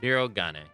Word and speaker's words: Shirogane: Shirogane.